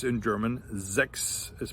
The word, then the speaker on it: sechs: followed by an S, that sound is actually like a KS or like an X sound. So for instance, we have the number 6 in German, which is pronounced sechs. So words like sechs or Fuchs.